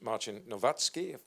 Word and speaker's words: Marcin Nowacki: Ricardo Williams from the European Commission, Marcin from ZPP, which is Marcin Nowacki, is how it's pronounced, Pierre Tardieu, Chief Policy Officer at Wind Europe, and of course to Mr.